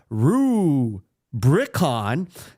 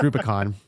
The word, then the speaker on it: Rubicon: Super Mario Wonder armored Core six fires of Rue Brion no it's not it's Rubicon Barrow trauma Street Fighter six in Roman numerals